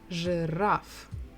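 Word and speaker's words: жираф: will be rough giraffe two syllables the stress is on the final syllable giraffe okay again it's a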